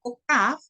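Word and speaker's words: כוכב: Como se pueden dar cuenta, se escribe con Kaf, la Vav, otra Kaf, pero yo le puse Hav y Bet. ¿Por qué le pongo Hav? Porque la Kaf es una letra doble. La Kaf se pronuncia, cuando tiene un puntico adentro, se pronuncia Kaf. Y cuando no tiene el puntico adentro, se pronuncia Hav.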